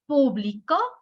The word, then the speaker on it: publicó: Pero si le pongo el acento en la última, en la O, en la última sílaba, estoy cambiando totalmente el sentido de la oración.